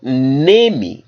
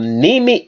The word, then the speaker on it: Nemi: a very unique Temple in a place called nemi Nami Italy for Diana and it's from that place because they call that a city maybe Italy I hope I'm pronouncing it right it's spelled n-e-m-i from nimi Italy they built a temple for uh the